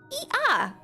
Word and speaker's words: Ea: When the vibration of vocal folds was still required to convey our thoughts and intention, "Ea," I believe, was the pronunciation used when referring to our people.